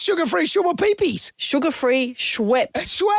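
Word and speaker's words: Schweppes: Co just officially recalled their sugar-free shoa pee peas. What? Sugar-free shoa pee peas. What's sugar-free shua pee pees? Sugar-free Schweps.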